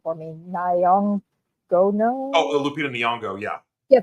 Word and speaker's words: Nyong'o: I know somebody please pronounce her last name for me. Nyong'o.